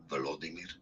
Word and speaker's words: Volodymyr: how to say more interesting names that many mispronounce. Vladimir. So make sure to stay tuned It's not to the Vladimir. channel to learn more. Volodymyr.